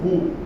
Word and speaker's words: roux: O que seria um roux? Vocês vão ver várias vezes essa palavra escrita aí, R-O-U-X, né? Roux, mas a pronúncia correta é roux.